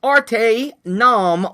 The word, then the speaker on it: ArteNOM: So ArteNOM, he likes to think of it as it's the art of each nom, okay?